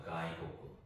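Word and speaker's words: 外国: 자, 그래서 외국을 가이고구라고 합니다. 가이고구.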